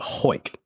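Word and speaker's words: Hawick: the hunt led me to a town called Ho. It's pronounced Ho, spelled H A W I C K in Scotland, which is along the along the Scottish borders.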